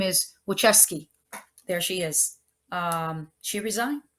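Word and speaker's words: Wojcicki: uh blah and I keep forgetting how to pronounce her name her name is wucheski there she is um she resigned she basically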